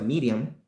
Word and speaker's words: Miriam: Porque si Miriam, que es un nombre en hebreo, Miriam en hebreo se pronuncia Miriam, quizás un cierto acento que no lo tenemos nosotros, pero Miriam en inglés, Miriam, en español Miriam.